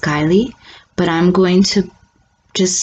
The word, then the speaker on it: Guiley: I believe her last name is pronounced Guiley, but I'm going to